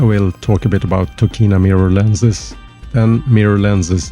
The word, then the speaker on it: Tokina: about the company and the pronunciation in Japanese is tokina so I used to say tokina but anyway tokina is